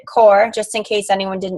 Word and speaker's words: Corps: 22 minute hardcore um it is spelled like corpse but you pronounce it core just in case anyone